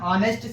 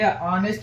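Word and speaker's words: honest: ಯೂಸ್ ಮಾಡಬೇಕು ಇಲ್ಲಿಂದ ಆನ್ ಆನೆಸ್ಟ್ citizen ಆನೆಸ್ಟ್ ಆನೆಸ್ಟ್ಇಲ್ಲಿ ಇಲ್ಲಿ ಉಚ್ಚಾರಣೆ ಏನಾಗುತ್ತದೆ ಉಚ್ಚಾರಣೆ ಮೇಲೆ ಇವು ಎ ಆನ್ ಯೂಸ್ ಮಾಡೋದು ತಿಳಿಯುತ್ತದೆ ಇವು ಆನ್ ಆನೆಸ್ಟ್ ಇಲ್ಲಿ ಹಾನೆಸ್ಟ್ ಎಂಬದೇ ಏನದೆ ಇಲ್ಲಿ ಸ್ವರ ಅದ ಆ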